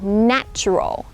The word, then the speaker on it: natural: You would say natural, natural.